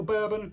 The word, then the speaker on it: Bourbon: i presume it's pronounced bourbon like the drink rather than bourbon like the biscuit so the bourbon bean